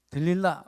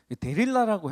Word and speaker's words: 들릴라: 삼손이라 하면 이렇게 뭔가 힘, 이렇게 머리카락, 뭐 이렇게 들릴라, 뭐 이런 게 단어가 연상되지 않습니까? 제가 어렸을 때 주일학교 다닐 때는 데릴라라고 했거든요. 데릴라. 삼손, 요즘에는 이렇게 성경이 바뀌면서 들릴라라고 하더라고요.